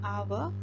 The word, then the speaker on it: hour: Though the first letters are H. H is a consonant. Though it is a consonant, in these two words, hour and honorable, it is silent. It is silent, and it begins with a vowel sound.